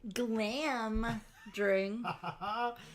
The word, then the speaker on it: Glamdring: Joe, it's pronounced glam dring.